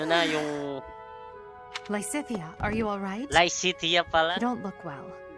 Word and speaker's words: Lysithea: Licitia pala. You don't look well. Pero sinasabi natin, Lycitea. Lycitea pala pa. No, Yung pronunciation.